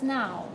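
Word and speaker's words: nhow: name of the hotel it's now now berlene okay you don't need that H you realize that no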